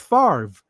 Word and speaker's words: Favre: was for the Green Bay Packers Brett Favre pronounced Favre now I'm seeing earlier it says Fab and